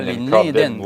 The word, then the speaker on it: linden: ce qui s'accumule, les lindens, cordées de bois sorties de la forêt. Je prends un terme qui est usuel en anglais. Land end. Ouais. C'est pour ça, puis on prononce ça linden en français.